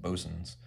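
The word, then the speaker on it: Boatswain: swamp I don't know I think in the neat and naval terminology I think that's pronounced bo's'n's but that's it's not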